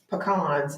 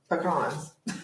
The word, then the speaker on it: pecans: what Terry okay y'all it is not peans it is pecans pecans peans did we